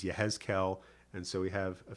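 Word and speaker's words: יחזקאל: Yeshayahu, Jeremiah is Yirmiyahu, Ezekiel is Yehezkel, and so we have a few things like that.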